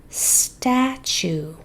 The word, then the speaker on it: statue: Statue. We have 1, 2, 3, 4, 5 sounds. S, t, a, ch, oo. It is spelled T. You can say chew in words, and UE says oo.